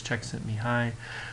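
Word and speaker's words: Csikszentmihalyi: the lecture I really want to talk about Czech sent me high if you've seen his name in print it's really really hard see how it actually would be pronounced as Czech sent me high but that is the pronunciation there and what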